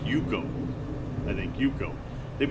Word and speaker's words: UCO: option someone explore with you this is the hukou candle lantern hukou it's pronounced you go and thank you bro they've been around since